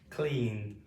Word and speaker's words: cleaned: Cleaned.